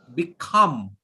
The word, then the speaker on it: become: it is a verb if it is a verb put pressure on the second sound become become say it everyone